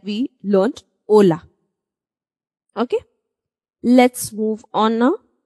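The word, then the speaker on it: hola: pronounce h is a however in a word it is always silent we are going to say this word is Oka just like we learned Ola okay let's move on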